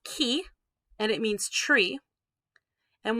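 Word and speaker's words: 木: i stink with a computer mouse this is pronounced key okay now that means tree so let's say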